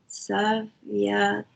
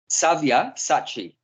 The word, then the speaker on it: Savyasachi: They are already put to death by my arrangement, and you, O Savyachasi, can be put... How do you say? Savyasachi.